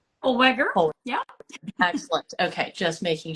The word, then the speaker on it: Holweger: and let me know if I'm pronouncing this right, Holweger? Holweger.